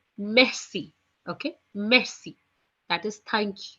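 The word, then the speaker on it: merci: night messy messy okay nobody will pronounce it Mercy Mercy no it's messy okay messy that is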